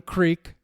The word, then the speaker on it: creek: The rest of the world would call it a creek, a creek. C-R-E-E-K, but in Well, that's the way we spell it. West- C-R-E-K is pronounced crick.